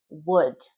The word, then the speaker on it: would: Could, should, would, could. That L is non existent, and you really don't pronounce the O either.